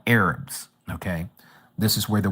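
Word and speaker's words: ערב: In the in the Hebrew, the word evening is arab or what we would pronounce as Arab like Arabic people.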